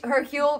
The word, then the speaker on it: Hercule: You don't pronounce the H.